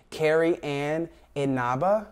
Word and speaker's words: Carrie Ann Inaba: to clock me because i was saying her name wrong so let me say it again carrie ann inaba cheryl underwood and amanda klutz those ladies will